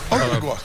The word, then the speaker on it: Ogugua: My real name is OGUGUA.